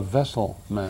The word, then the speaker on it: Wesselman: you're right either that's they said you know this is a vessel man vessel now my wife